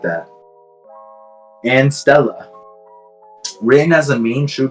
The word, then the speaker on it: Stella: And Stella. Written as a main true body, but pronounced as Stella, which means celestial star in Latin.